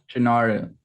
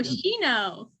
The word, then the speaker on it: Shino: Shinaru. What? Shinaru. What did you just say? Shinaru. Shinaru? Yeah. No, Shino. Shino. We're right here. Shino. Wait, Shinaru. There's no R.